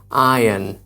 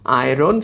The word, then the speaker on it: iron: আয়রন সঠিক উচ্চারণ নয়, এর সঠিক উচ্চারণ হচ্ছে আয়ন, আয়ন।